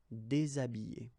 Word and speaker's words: déshabiller: Okay, so you can see that here, this H here, this letter is not pronounced, so habiller and then déshabiller.